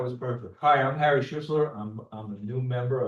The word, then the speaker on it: Schuessler: It gets butchered a lot, but that was perfect. Hi, I'm Harry Schistler.